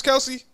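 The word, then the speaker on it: Kelce: the story with travis kelsey he was on a podcast you know we've been saying his last name wrong forever right what what is his last name it's travis kels first and foremost his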